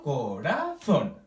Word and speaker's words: corazón: O por ejemplo, corazón. ¿Sí? Pronunciamos más fuerte el zon.